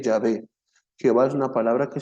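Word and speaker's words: Yahweh: en hebreo se le se escribe y H W H pero se lee Ya ve Jehová es una palabra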